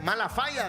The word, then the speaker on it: Malafaya: Malafaya, se dice, así pronunciado bien. Malafaya es.